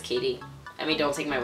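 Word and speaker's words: Caty: Like, you could easily mispronounce that as Catty, but I think it's Katie.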